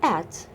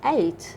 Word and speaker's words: ate: english it is pronounced at in the uk but in the usa they pronounce it eight like number eight okay us eaten eaten